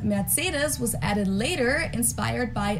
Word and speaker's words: Mercedes: in Germany um so most Americans call this Mercedes in German we pronounce it Mercedes so Mercedes versus Mercedes merus matus so it's